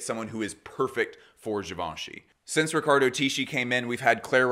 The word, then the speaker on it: Givenchy: did you know that John gallano designed for gavinci for two seasons in this hypothetical Tik Tok they are mispronouncing javoni as engagement bait we opened the